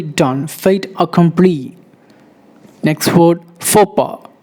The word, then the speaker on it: faux pas: Next word, faux pas. It's not fox pass, it's faux pas. Faux pas. X and S is silent.